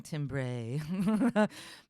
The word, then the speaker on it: timbre: talking about but also we specifically pronounce it Timbre in American English to just specifically distinguish it and differentiate differentiate it